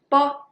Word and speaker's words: bo: But then when you pronounce po, po, po, well, this piece of paper swing very strongly. Po, po, po. So when you speak po, the air is stronger. When you pronounce bo, the air is just keep it in your mouth.